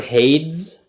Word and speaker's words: Hades: It's like the word Hades. Hades, okay. Like so the brand Hanes, but with a D.